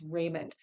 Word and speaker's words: Remond: Garrison, Frederick Douglass, and Charles Lennox Raymond. Raymond is spelled Remond.